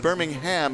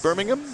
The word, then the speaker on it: Birmingham: Oh, I'm told that Birmingham is pronounced differently than Alabama's. Sorry. I've been saying Birmingham. It's Birmingham?